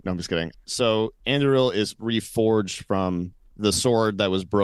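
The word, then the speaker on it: Andúril: I think it's Anduril. Like you're supposed to roll Anduril. Anduril. Okay. So it's of course, as we all know. No, I'm just kidding. So Anduril is reforged from the sword that was broken.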